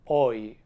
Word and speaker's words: hoy: It has one sound when it's at the end of a word, and in that case we pronounce it just like I, just like our vowel E. So for example, hoy or estoy, it is pronounced just like an I.